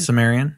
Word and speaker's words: Sumerian: I've heard of this Su Sumerians was that how you say it Sumerian Sumerian okay I've heard of that